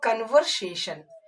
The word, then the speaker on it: conversation: भी ऐसा वर्ड जिसमें टी के बाद 2 वॉवेल आ जाए, तो वहां पे हम लोग टी को ट नहीं पढ़ेंगे, टी को हम लोग श पढ़ेंगे। कैसे, एग्जाम्पल लिया था हम लोगों ने कन्वर्सेशन, CONVERSATION, कन्वर्सेशन।